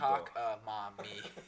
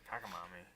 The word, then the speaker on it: cockamamie: Well, Jack's cockamamie Or as was, Jack said was it, a little cock-mommy. That's how it was written to pronounce. I stand by cockamamie.